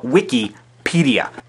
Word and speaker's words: Wikipedia: Wikipedia is a mix of the words wiki and encyclopedia. If the mix occurred at the apedia and the wik, then you would have Wikipedia. But the mix occurs after wiki and then pedia. So you have Wikipedia.